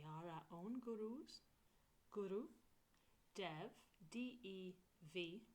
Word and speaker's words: Dev: I spell it Namore as O-M-O-R-E, because I say it how I spell it. And then Guru, and we are our own gurus. Guru, Dev, D-E-V, not Dave, and then Namore, N-A-M-O.